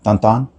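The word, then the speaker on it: Tintin: libros que leía me gaba sí me encantaba tintín de hecho aprendí hace poco que era tanan toda la vida la pronunciación es porque él es él es belga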